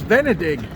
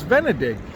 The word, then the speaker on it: Venedig: up on uh Google turns out that's how you say Venice in German so I knew in English it's Venice in Italian it's Vena and in German it's venedict so I didn't know that